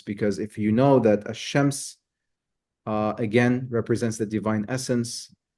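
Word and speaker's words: الشمس: if you know that ash-shams again represents the divine essence, and the moon represents the manifestation, the mirror, then that kind of tells you why the lam is not pronounced in the sun, in the case of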